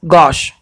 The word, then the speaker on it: gauche: The correct pronunciation is dexter, dexter, sinister, and this is gosh, gosh, gosh.